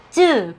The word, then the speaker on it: צ: 그래서 이거는 쯔 발음입니다. 쯔. 그래서 쯔 발음이구나 이렇게 알 수 있고요.